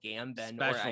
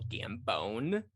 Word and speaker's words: Gambon: And neither Richard Harris nor Michael Gambon, Michael Gambon. Oh, especially. I used to have a film teacher that used to pronounce it Michael Gambone, and he'd be like,